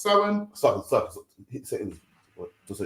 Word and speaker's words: Samhain: We're going to give you the complete history it should be of Samhain, pronounced Samhain.